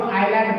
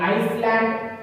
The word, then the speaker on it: island: ये आइलैंड, इसको आइलैंड पढ़ते हैं, आइसलैंड don't pronounce, okay, आइसलैंड इसको नहीं पढ़ते, आइलैंड पढ़ते हैं।